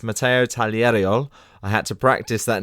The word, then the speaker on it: Tagliariol: fencing our first fencer on the show it's Mato taler I had to practice that name before I